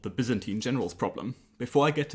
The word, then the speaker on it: Byzantine: Before I get into the details, a question of pronunciation. Is it Byzantine or Byzantine generals? Well, so as far as I know, the standard British pronunciation of this word is actually Byzantine, and Byzantine is the American pronunciation.